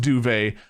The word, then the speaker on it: duvet: is going to say something I know it's pronounced duvet I am saying do it to piss you off I still don't care